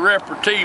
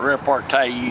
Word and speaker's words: repartee: You get this kind of repartee with your son, folks, when you didn't beat his ass enough when he was young. It's not repartee either. It's repartee.